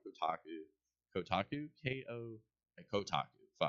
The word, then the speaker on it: Kotaku: it's all like the taco Kotaku KO and Kotaku don't don't make me spell it all right Kotaku Kotaku yes yeah so